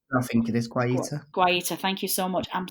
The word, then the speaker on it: Guaita: Martin Dubravka 7, David De Gea 7, Rui Patricio 7, Vincent, I can't pronounce this. Is it Guata? I'm so sorry for... I think it is Guaita. Guaita, thank you so much.